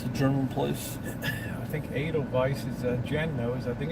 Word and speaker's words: Edelweiss: Just Edelweiss. like the Sound of Music.